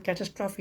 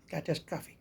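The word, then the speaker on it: catastrophe: कचरा भाई डबरी डेबरी नहीं कैस्ट्राफी नहीं कैस्ट्राफी कैटस्ट्राफी कैटस्ट्राफी कैटस्ट्राफी कैटस्ट्राफी कैटस्ट्राफी कैटस्ट्राफी आपदा उस तरह से एक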